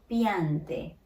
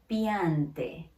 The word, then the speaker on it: piante: So it is very important to know Italian does not have this T. So piante, piante, piante.